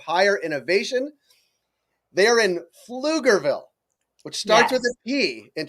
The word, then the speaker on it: Pflugerville: That silent P, but it gets a little dicey, but you I did know it. the silent P followed by an F.